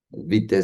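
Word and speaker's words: Witte: Vite se en alemán se escribe W I TTE, eh, quien falleció en 1941.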